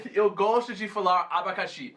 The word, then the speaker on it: abacaxi: E também abacaxi. Eu gosto de falar abacaxi. É muito bom. Muito Essas legal. palavras que têm a ênfase na última sílaba, tipo maracujá, abacaxi, né?